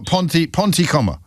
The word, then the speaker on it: Pontypridd: They did it phonetically for me, and they literally wrote pawn, like the chess piece, t coom with a k, k double o m. Uh So, that's wrong. It's not coom, it's come.